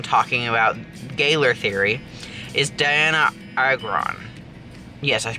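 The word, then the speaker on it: Dianna Agron: Another person frequently mentioned when talking about Gayler theory is Diana Agron. Yes, I pronounced that right. Diana Agron.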